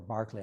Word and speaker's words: Berkeley: from Bishop Berkeley, or Barclay, I believe is the proper pronunciation, but on the West Coast they call him Berkeley because of Berkeley, California, named after him.